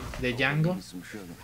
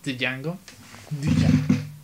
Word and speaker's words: Django: Y por cierto, ahí dice Django, la 10 muda. Por si querían pronunciarlo como yo una vez. Django. Django, pues no se puede. No es Django.